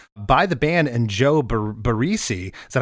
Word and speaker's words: Barresi: It was produced by the band and Joe Barresi. Is that how you pronounce it? Barresi?